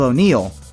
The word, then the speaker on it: O'Neal: As for star Shaquille O'Neal, which rhymes with steel, let's just say that as an actor, he made an awesome basketball player.